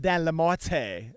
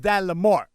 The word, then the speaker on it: Lamorte: Yo, I'm glad I asked the correct pronunciation of Dan's last name because I was all day long. I was like, oh, I got Dan Lamorte. But it's Dan Lamorte.